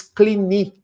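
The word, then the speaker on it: Cluny: fundam a abadia de, em português se escreve cluni, mas em francês clini, porque é uma palavra francesa.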